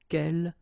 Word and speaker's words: quel: good news is that if you listen carefully, quel, quel, quel, quel, okay, so phonetically you get only one form. Of course, when you've got this S, well, if you've got a vowel after, then you will have to make this liaison. But then clearly the basic form like that, phonetically it's the same, okay?